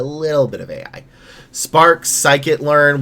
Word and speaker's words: scikit-learn: Spark, scikit-learn, which I will always pronounce as skibbity-learn, pandas, numpy, dashboards, data visualization.